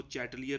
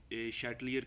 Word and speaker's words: Chatelier: देखो, प्रोनाउंस करना बेटा हर बंदे का अपना होता है, वो कुछ इसको चैटलियर भी पढ़ते हैं, शैटलियर भी पढ़ते हैं, तो ज़्यादातर प्रोनाउंस इसको बेटा शैटलियर के लिहाज से ही किया जाता है।